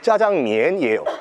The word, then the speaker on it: 짜장면: 장을 볶아서 먹는 면이다 해서 작장면이 뭐 자기들 발음은 짜장면이에요.